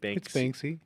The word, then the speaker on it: Banksy: it's Banksy.